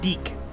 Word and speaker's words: DIC: DIC. It's pronounced deick for some reason.